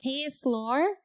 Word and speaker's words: Ksloir: Her name is Krystal and it's from, is it Ksloir? It's such a unique name. Did I say it right? Yes, you did.